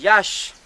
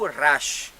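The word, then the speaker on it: yax: barres inclinées, ça c'est une syllabe maya, et ça se lit yash, yash, ou rash. Hein?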